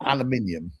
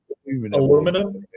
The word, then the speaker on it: aluminium: And Eric, it's pronounced aluminium, right? Yeah, it is aluminium. Aluminum? No, aluminium.